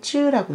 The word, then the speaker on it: 至: A 至 D, A부터 D를 쯔라고 읽어요. 그래서 A부터 D까지 按什么什么的顺序, 어떤 순서에 따라서 진신 排列, 배열하시오.